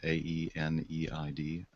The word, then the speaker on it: Aeneid: Under Hamlet was Virgil's, I don't know how you pronounce that, A-E-N-E-I-D, Aeneid, yeah.